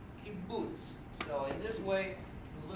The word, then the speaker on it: kibbutz: It's an oo sound, kibbutz.